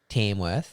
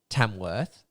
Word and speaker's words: Tamworth: no it's so it's it should be said tamworth tamworth what am i saying